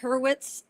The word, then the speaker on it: Hurwitz: Please pronounce first and last your last name for me. Oh, it's uh Herurwitz and. Herwitz.